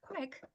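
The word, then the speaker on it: craic: so what's the crack it's pronounced like crack but it is not what you might be thinking of in Irish CRA means entertainment or a good time it's a no you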